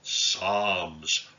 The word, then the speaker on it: Psalms: like a strange name psalms you don't pronounce the p it just means songs